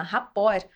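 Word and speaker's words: rapport: eu convido os os ouvintes a colocarem Obama raport rapor se escreve r a p o r RT rapor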